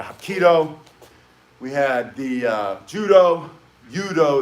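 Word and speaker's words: 유도: We had a Hapkido, we had the Judo, Yudo is how they pronounce it in Korean.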